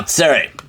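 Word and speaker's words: צֵירֵי: Tsere is pronounced as a. It's going to be, here, let's put it as under the aleph here. Put it under the aleph. Boom, 2 dots right there. It's a longer A.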